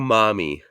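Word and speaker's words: mami: What that thang do, mommy? What? Can you spell that? How do they spell what? W-A-T or W-A-T? M-A-M-I. Mommy. Mammy. Like Spanish mommy. No, you got to say it like a Spaniard.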